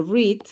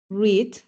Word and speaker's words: read: ejemplo tenemos el verbo read que es leer cierto read pero en pasado se escribe igual pero se pronuncia diferente entonces read en infinitivo